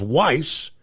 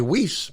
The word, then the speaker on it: Weiss: exact same spelling and the news pronounces his name is is Weiss and of course Lauren goes by whis so I don't know maybe it's a preference of how you like it to be said maybe yeah I don't